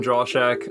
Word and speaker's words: Drauschak: Thanks Sam, for how do you having pronounce me. your last name? Drauschak.